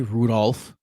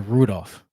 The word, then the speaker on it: Rudolph: but if you say Rudolph one more time I'm gonna lose my mind the L is silent Michael you don't say Rudolph it's a Rudolph all right Rudolph Rudolph